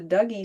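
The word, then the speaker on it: Dougy: that Poets in the Pines partnered with the Douggee Center. Yes, that's how you pronounce it.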